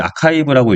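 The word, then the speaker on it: arXiv: 이제 투걸 어디다 하냐라고 하면은 이제 아카이브라고 이걸 이제 아카이브라고 읽는데 이제 아카이브라는 곳에다가 사이트에다 미리 올려 가지고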